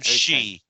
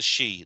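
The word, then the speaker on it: sidh: land of the spirits they call them she it's spell it's spelled s i d h the she which is the spirits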